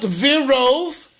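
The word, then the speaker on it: ורב: That in the Megillah, it's Vav Reish Beis, and it's pronounced Virov, and equals 208.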